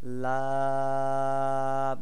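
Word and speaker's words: ل: দাঁতের মাড়ির সঙ্গে লাগাইয়া জিহ্বার আগার কিনারা আমাদের যে জিহ্বাটা আছে তার যে সামনের অংশ তার কিনারাটাকে সামনের উপরে যে বড় বড় দুটি দুটি দাঁত আছে এই দাঁতের মাড়ির সঙ্গে লাগাইয়া লাম উচ্চারণ করতে হবে লাম নয় নাম্বার মাখরাজ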